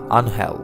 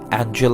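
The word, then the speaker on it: Ángel: বিদায় নিচ্ছেন আনহেল Di Maria. অবশ্য বাংলা উচ্চারণটা আনহেল, ইংরেজিদের নামের বানানে এঞ্জেল, অনেকে উচ্চারণ করেন অ্যাঞ্জেল নামেই। ডি মারিয়া অ্যাঞ্জেল রূপে হাজির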